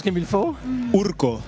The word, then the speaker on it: Urko: Je le prononce comme il faut. Urco. Urco.